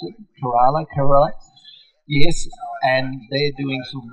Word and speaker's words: Kerala: Is that the way you pronounce it? Kerala?